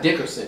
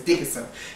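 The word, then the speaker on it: Dickinson: Janice Dickerson so her name is really not Dickerson it's Dickerson dick that's what it is is Dickenson Janice Dickenson is doing Celebrity Big Brother over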